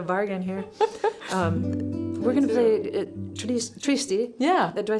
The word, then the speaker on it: Triste: We're gonna play Triste. Yeah. Do I say? How do you say it? You say it better than me. Triste?